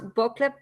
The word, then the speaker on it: buckle: How do you pronounce buckle? Buckle up. Buckle up. Buckle up. Yeah. Okay. Now remember, in English, U is a. Buckle.